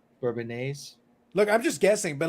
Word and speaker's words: Bourbonnais: if you No, look, it's the word bourbon. Like if you look at the way it's spelled, it's like bourbon. All right. And then you're finishing with A's. So I'm like, no, I'm gonna say Bourbonnaise. Okay.